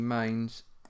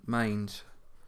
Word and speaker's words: Mainz: The Europa League final, Chelsea Mainz, and you've got some games there as well in the league. So Chelsea got battered by Mainz.